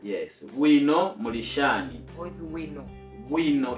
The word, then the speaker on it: bwino: What is wino? Wino, it's BWINO. Okay, so in my Shona, if I pronounce BW, it's we.